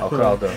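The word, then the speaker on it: 克劳德: 对的，克劳德来，克劳德还谁？我不知道为什么一直会想把它念成克雷德，我觉得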